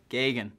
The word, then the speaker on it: Geoghegan: Australia and young Teo Geoghegan Hart from the UK. All the redundant vowels in my name. So it's just Geoghegan. Very simple to actually pronounce.